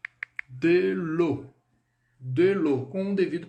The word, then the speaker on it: de l'eau: Então, na palavrinha água, o E aí, ele é irrisório. Ele não tem som, ele é mudo. O que vai determinar o som da palavra água em francês é o AU. Então, AU, som de O. Esse é o som, é assim que a gente pronuncia água em francês.